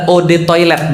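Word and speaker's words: eau de toilette: Eau de toilete artinya adalah od toilet bacanya e atau o itu artinya air toilet ya toilet.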